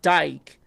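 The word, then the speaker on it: Dijk: Dutch pronunciation often sounds like dyke with a J behaving as a single vowel sound.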